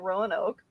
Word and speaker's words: Roanoke: Lost Colony of um my Canadian brain wants to pronounce it Ron okay Johnny had to correct me on that a couple weeks ago uh but yeah so the Lost Colony of Rowan Oak um who wants to